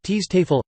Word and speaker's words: Schutzstaffel: The Schutzstaffel SS, also stylized as with Armanen runes, German pronunciation, Teestafel, listen, literally, protection squadron, was a major paramilitary